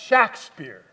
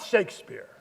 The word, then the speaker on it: Shakespeare: so sorry to interrupt pronounced shakspeare not Shakespeare how many times do